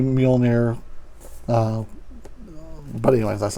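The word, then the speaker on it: Mjölnir: Everybody pronounces it a little bit different. I've always heard it Mjolnir, and the power of the Mighty Thor. So don't bust my balls in comments about not saying it right, because I don't think I've ever heard it. Well, I've heard it mostly Mjolnir, but anyways, that's not important.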